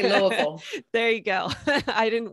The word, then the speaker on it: Louisville: University of uh well we say here on the West Coast Louisville but I know there's the right way to say it right yeah yeah we say Louisville there you go I